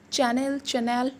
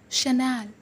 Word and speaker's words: Chanel: Just pronounce it with me. Chanel. It's a French brand, but people call it usually Chanel. No, guys, it's Chanel.